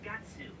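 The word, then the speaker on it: Guts: mean-looking guy is Gatsu. He's my Gatsu? buddy. He carries my house. You can I mean, say- that is how it's pronounced in Japanese.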